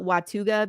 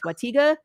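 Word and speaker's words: Watauga: the city Sam because I always call it watuga because of Pirates of the Caribbean it's not how you say it's Wata you said it best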